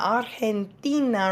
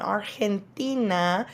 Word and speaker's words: Argentina: countries so we have Argentina artina remember that g makes that H sound artina the capital is buenos